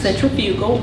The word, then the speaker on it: centrifugal: Centrifugal or centrifugal, it's pronounced both ways.